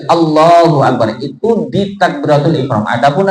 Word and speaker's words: Allahu Akbar: Maka pengucapannya kemarin sudah kita bahas harus jelas. Tidak boleh Allah akbar. Nah, itu enggak sah. Nah, tapi harus jelas Allahu Akbar.